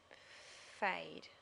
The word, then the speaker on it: fade: Fade. Fade, that would be add. So we need that silent E on the end to make that say the A for fade.